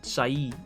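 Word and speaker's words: Sae: This seems like this is it Sei's boss? Or Sai. I pronounced her name like Sei, like some sort of absolute pleb. Sai is her pronunciation, so apologies for that, guys.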